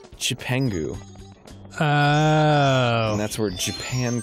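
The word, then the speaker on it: Cipangu: But in the Chinese, Marco Polo came back from China with the characters for Japan, which is pronounced in the Chinese, the original Chinese, Chipengu.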